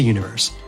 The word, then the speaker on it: univer.se: Head to Universe. That's univer.se, but the dot is silent.